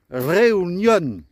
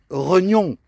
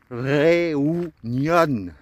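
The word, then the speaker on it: reunión: Et comme je t'avais dit que toutes les lettres se prononçaient, on va pas prononcer bien sûr réunion, mais avec le E et le U, on va prononcer le E et le OU. Donc ça donne réunion. Et avec l'accent tonique à la fin, on accentue la dernière syllabe.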